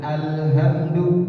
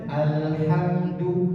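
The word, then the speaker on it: الحمد: Alhamdu, bukan alhamdu. Bisa bedakan? Jadi bacanya alhamdu tipis, bukan alhamdu.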